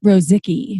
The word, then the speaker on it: Rozicki: Rozicki. Is that right? Rozicki. Love it. Phonetically correct. And he said, it's like, I'm not sticky. No, wait. Quite the opposite. It rhymes with so sticky.